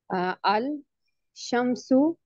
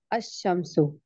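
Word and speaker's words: الشمس: टू the solar letters अल शमशु द सन is pronounced अ शमसो okay इसमें आपको क्या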